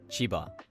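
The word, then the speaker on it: 千葉: I should also note that basically all prefectures with two or three mora use the atamadaka pattern when pronounced in isolation. Aichi, Tochigi, Chiba, Kochi.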